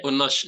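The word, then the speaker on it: Yunus: Nun wau syin ya saya bacanya Unus sebenarnya kalau dibaca patahah juga bisa seperti itu Nah jadi Unus itu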